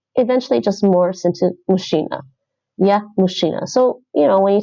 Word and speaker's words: мужчина: This is a zh sound usually. Mush. And that's ch. Mush.